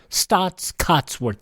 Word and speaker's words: Staats Cotsworth: you want to know it's spelled s-t-a-a-t-s cots c-o-t-s worth w-o-r-t-h stots Cuts worth listening and well my